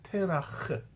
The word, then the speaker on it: 테라흐: 우리는 데라라고 읽지만 히브리어는 테라흐 이렇게 읽어요.